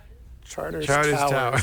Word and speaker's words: Charters Towers: ah shut where's hottest hands chad is towers charters towers and by the way I i love your